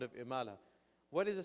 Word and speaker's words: Imala: something here called the Imala phenomenon, okay? The Imala phenomenon. So Imala is a particular way of pronunciating certain vowels. It's basically the inclination of the alif towards the ya sound.